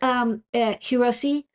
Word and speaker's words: Hirose: So UFL, it's Hirose is the original makers of the parts, or maybe it's pronounced Hiros.